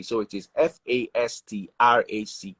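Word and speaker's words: Wealthfastrack: T, so it is F-A-S-T-R-A-C-K. So it's more like fast rack, and fast rack, not fast track, fast rack. Even though it's actually fast track, it's spelled fast rack.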